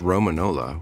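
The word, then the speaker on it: Romagnola: Romanola. It's pronounced Romanola with the G silent.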